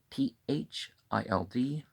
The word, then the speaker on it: THILD: THILD, Thild, one syllable.